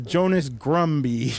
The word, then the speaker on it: Jonas Grumby: Except Maria, somehow you butchered some of the names. It was Jonas Grumby.